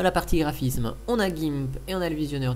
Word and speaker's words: GIMP: Dans la partie graphisme, on a GIMP et on a le visionneur d'image GThumb, on prononce à l'anglaise. Donc GIMP ici est une version